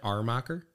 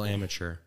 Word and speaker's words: Amacher: Oh, people like putting an R in there. Armacher. I think the traditional German was, there was an H at the front, but I don't know. Maybe all munchies. If you pronounce it amateur, you're not too far off.